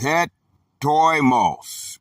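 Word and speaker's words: ἕτοιμος: The Greek word is hetoimos, pronounced het-oi-mos.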